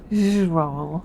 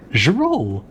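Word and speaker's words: girolle: The first syllable sounds like J, as in the S in measure. J. The second syllable sounds like a roll or roll. Zerol. Zerol. It rhymes with words like bankroll and control.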